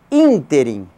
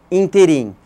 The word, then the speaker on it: ínterim: intervalo intervalo de tempo é chamado também de ínterim e não ínterim nesse ínterim é uma opção nesse ínterim encerrada nesse ínterim é